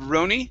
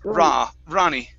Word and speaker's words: Ronnie: Instead of Roni, it's Ronnie.